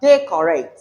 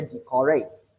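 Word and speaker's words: decorate: So considering this, that they correct, some persons you say decorrect. That is wrong pronunciation. The emphasis is on the first syllable.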